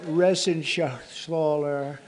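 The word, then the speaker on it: Reschenthaler: You know that Resenshathaler. That's actually the way you pronounce it, you know.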